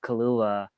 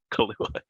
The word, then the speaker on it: Kaluuya: It's the guy Daniel Kalua. I'm mispronouncing his last name, but I was like, guy really? Kahlua. Yeah. it's Kaluuya.